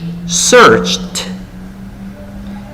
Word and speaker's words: searched: Ese sufijo, imagínense que es la letra T. Tiene sonido de T. Cert. ¿Ok? Search, searched. Is the sound of T.